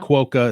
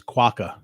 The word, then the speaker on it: quokka: how to say waka pronounce it like Nicole does not kay whoa so it's not quota its quokka kwaka okay I remember that